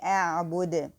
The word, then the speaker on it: أعبد: it lightly, and then make the qalqala or hesitation in the dal. So we say أعبد.